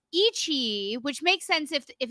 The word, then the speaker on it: iQIYI: It's on iQIYI. That's how you pronounce it.